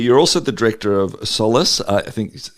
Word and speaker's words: Solas: You're also the director of Solace I think is how we say that. So explain to us what that is as well. Yes, you got the pronunciation pretty much right. So Solas is the GA word for light because originally